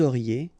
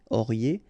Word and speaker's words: auriez: Vous auriez, EZ at the end, et auriez, and then the liaison, vous auriez.